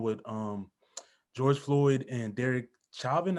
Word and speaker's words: Chauvin: And that just brings me into the case that's going on with George Floyd and Derek Chauvin. How do you pronounce his name?